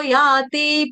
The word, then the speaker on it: याति: ततो याति परांगतिम, यांतिम नहीं है, याति।